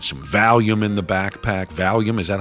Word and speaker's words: Valium: Valium, is that how you say it? Yep. Valium.